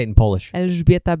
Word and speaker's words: Elżbieta: Elżbieta Becz.